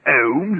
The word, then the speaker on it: Holmes: of course it's obvious you mean to tell me that ohms has got an l in it of course it's spelled h-o-l-m-e-s and all you need is h-o-m-e-s what are